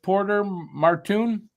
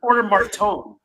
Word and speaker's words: Martone: How do you say it? Cam Porter Marton. Porter Marton. Yeah. Yeah. Just I love hearing that. I thought it was Porter Martone. There's no U.